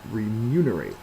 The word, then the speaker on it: remunerate: Next one, remunerate. This is our second one that's talking about money. Uh but it's a little bit different than liability. Remunerate uh is a verb. Second syllable is accented and it means to reward, pay or reimburse.